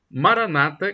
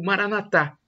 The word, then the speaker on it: Maranata: proverá Acredite Creia e Maranata como dizem os protestantes evangélicos com a tônica na última sílaba ou Maranatha como dizem os católicos